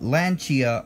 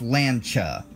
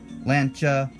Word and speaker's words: Lancia: lent lancha I'm sorry it's lancha two syllables not three lancha and then of course